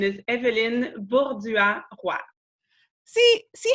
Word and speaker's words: Èvelyne Bourdua-Roy: just for the fun of it the real pronunciation is evident bullseye Wow see see how much better that is